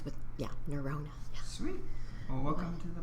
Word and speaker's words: Nerona: neurona nura yeah remember my shirona neona neurona rhymes with yeah neurona sweet well welcome to the podcast thank you